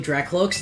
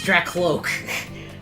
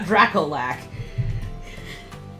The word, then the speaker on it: Dracloak: So, when we were at Worlds in the summer, I learned that I had been pronouncing Dracloak's name incorrectly for years. It's Dracloak. Dracloak, not Draalac.